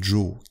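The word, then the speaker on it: 城: ou telle ville lemouchi l'eau devient jo qui est la prononciation sino japonaises comme ici pour le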